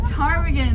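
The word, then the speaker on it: ptarmigan: Willow tarm again Willow tarmigan that's right it's actually a funny story about the time again so time again is spelled with a pH and there's actually a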